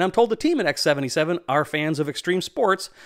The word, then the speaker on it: X-7Seven: for us to test and yes it is pronounced x77 and i'm told the team at x77 are fans of extreme sports so they wanted